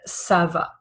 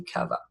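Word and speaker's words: ça: So make it sound like the English s in set by adding a sadilla at the bottom. So you create the letter cadilla or ceil which we have right here. Uh and then you get words like sava. Okay? If there was no sadilla it would be kava. All right.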